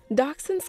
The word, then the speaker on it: Dachshund: Dachshunds come from the word dachs, meaning badger, and hund, meaning hound, or dog. If you want to be proper, the name should be pronounced in a German accent.